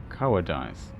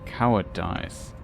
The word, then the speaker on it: cowardice: he fled from the giant's flame out of cowardice. Okay, let's consult the Cambridge Dictionary. How's this pronounced? Fealty. Fealty, okay. The other word, how is this? Cowardice.